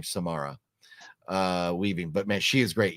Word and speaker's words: Samara Weaving: Because there's a few babysitter movies, but the one with Samara, I think you pronounce her name Samara Weaving, but man, she is great.